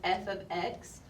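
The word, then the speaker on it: f(x): looked at this before this right here this F ofx that's how you say it this is function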